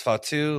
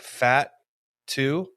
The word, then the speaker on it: Fatu: But Wade Barrett pronounces Fatu like fat two, like fat two.